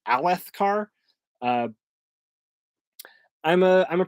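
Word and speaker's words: Alethkar: word uh that's why I pronounce it erytharu and a left car rather than I think it's supposed to be urethiru and alethekar uh I'm a I'm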